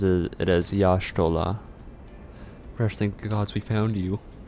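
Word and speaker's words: Y'shtola: So, yola is more pronounced as Yashola. Oh, that makes sense. That's why it's pronounced like that in like uh the Japanese by by the Japanese.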